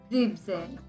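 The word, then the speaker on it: siebzehn: called as 6 then seventeen is again an exception seven is called a zebra and ten is called as brain so instead of c benzene seventeen is crimson you have to remove the en from 7.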